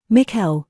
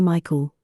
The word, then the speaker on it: Mikel: what's your middle name Mikel he says people always mispronounce it and say Michael though gets annoying miles Mikel